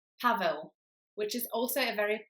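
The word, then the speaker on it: Paweł: the first sound W it's not pav it's Pavo the next name I'm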